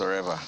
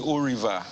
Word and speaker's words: Oreva: When I was there, for some reasons, the Igbo people there could not pronounce Oreva. Ordinary Oreva. That was a problem. So they were actually calling me Oriva, Oliver. Somebody even called me Sevra. Some called me Arriva.